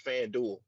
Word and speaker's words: FanDuel: a sponsorship and be saying the name wrong it's FanDuel is fan well you